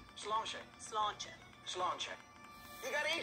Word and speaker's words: Sláinte: Sláinte. Sláinte.